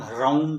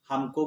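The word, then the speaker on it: हौं: कुछ लोग कहते हैं ओम ह्रौं कहना चाहिए, लेकिन हमको गुरु परंपरा से जो मंत्र प्राप्त हुआ है वो है ओम हौम। संस्कृत में औ की मात्रा का उच्चारण औ हो जाता है, इसलिए हमारे उच्चारण को ध्यान से सुनिए।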